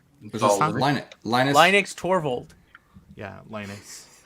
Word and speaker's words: Linus: him no that's all right Linux torvald yeah Linus Linux say it properly no he won't he never